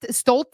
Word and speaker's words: Stoalls: My name is pronounced stol, but it's spelled stoalls.